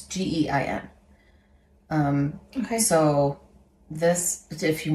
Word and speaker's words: Gein: I don't know how to pronounce it. It's Gein.